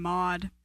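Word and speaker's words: Maude: Yeah, people dog on me because I like the name mod.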